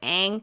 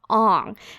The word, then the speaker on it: Aang: Like in the cartoon, his name is Aang and they call him Ong.